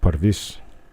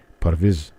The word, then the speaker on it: Parviz: Actually, his name would be pronounced Parviz. Parviz.